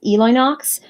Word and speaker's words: Elinox: start by saying that my user name is actually pronounced Eli Knox I've been asked about